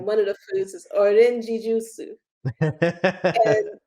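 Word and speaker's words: オレンジジュース: And when we ordered that, I said orange juice, and she had no idea what I was talking about. So I had to actually like pronounce it that way for her to get it.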